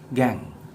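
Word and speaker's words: gangue: called as gang so check the spelling of gang z-a-n-g-u-e should be pronounced as gang so gangs are those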